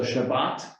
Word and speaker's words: Shabbat: for it um the the pronunciation is slightly different in yiddish you often emphasize a different syllable and a t at the end often becomes an s so shabbat in hebrew becomes shabbos